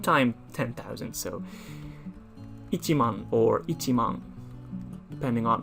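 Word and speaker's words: 一万: but the same thing if you want to write ten thousand by itself it's not just mon it's actually ichiman you have to specify that it's one time ten thousand so ichiman or ichimong depending on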